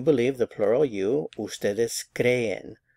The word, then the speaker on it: creen: Ustedes creen. Stress on the cre.